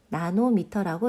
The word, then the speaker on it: nm: 자, 여기에서 nm이라는 게 보이죠? 이것은 파장에 사용되는 단위로 나노미터라고 읽습니다.